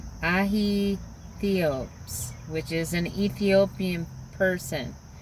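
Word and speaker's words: Aithiops: It's Ahitheopes, which is an Ethiopian person. And Athio, A-I, because it's spelled A-I-T-H-I-O-P-S.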